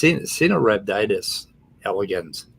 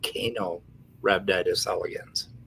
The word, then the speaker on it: Caenorhabditis elegans: for pronunciation, but it's Caenorhabditis elegans. It's not Caenorhabditis elegans, right? Huh. The C is soft. It's an S sound.